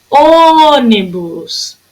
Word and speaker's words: ônibus: Ônibus. A sílaba que durou mais tempo aqui, ó, foi o O. Se foi o O, ela é proparoxítona, tá? É a antepenúltima sílaba da palavra.